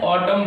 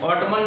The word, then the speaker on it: autumn: लेकिन यहाँ से देखिए कि हमारा क्या होता है, एन साइलेंट होता है और इसको क्या कहते हैं, ऑटम पढ़ते हैं, ऑटमन नहीं पढ़ते, इसे क्या पढ़ते हैं, ऑटम पढ़ते हैं, ठीक है।